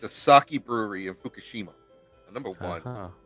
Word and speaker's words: sake: enjoy it yeah okay been saying it wrong this whole time man it's okay okay I don't know who to listen to sure no it's sake it's sake oh okay that's fine